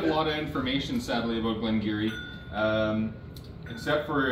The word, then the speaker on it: Glen Garioch: in it uh but this is Glen giri Glen gak is how it reads but it's pronounced Glen giri uh this is the Renaissance it's an 18-year-old